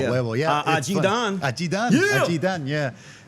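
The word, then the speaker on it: 雞蛋: Dan, G dan. G is like a chicken egg. G dan. Dan with a D or T? D. G-Dan, yeah. G-Dan, all right, yeah. Huevo, yeah. G-Dan.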